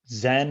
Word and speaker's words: zen: is um is is zen and chan identical yeah they're just different word it's there's a chinese character that is pronounced uh chan in in chinese and zen in japanese and it represents a